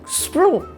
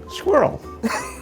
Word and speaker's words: squirrel: Your R is so strong and powerful that it replaces the vowel sounds. It sounds like squirrel. Squirrel.